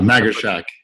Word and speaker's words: Magarshak: do you say last name again oh maggie shaq hey guys okay i put your last names